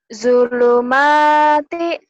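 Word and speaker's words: ظلمات: Zulumati. Zo-nya kurang rapuh, Sof. Zulumati. Dibacanya pakai Z. Z-H-O. Zo.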